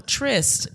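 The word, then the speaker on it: tryst: think it's a trip no trist baby it's t-r-y-s-t s yo you making sure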